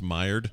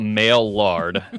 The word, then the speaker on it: Maillard: Oh, it's Maillard. Okay. Yeah. So forget everything we said about male lard. I'm not sure Maillard is any better, but it's fine.